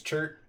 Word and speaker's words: Chert: in the voice names chert rhymes with dirt as all names should i've detected a